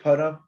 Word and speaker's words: param: Mam Ebhya Param Avyayam. I think you're doing a kind of a long A here, and it's tripping up your rhythm.